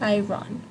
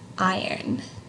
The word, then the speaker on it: iron: about how you think the best way to pronounce this is right because it's not Iran its iron like iron right so I'll say again one